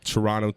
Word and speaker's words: Toronto: Turono Talks, and don't pronounce the T, motherfucker.